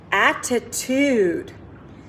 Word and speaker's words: attitude: It's spelled like devant, but we say devant. Good job. Our next word, attitude.